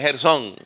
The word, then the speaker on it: Gersón: por ahí un gersón Pero ese no es gersón tiene acento en la o y Dios comienza a